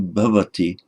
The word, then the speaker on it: bhavati: You'll hear it pronounced in slightly different ways in modern India, but provided you make it something between an English v and an English w, you probably won't go wrong.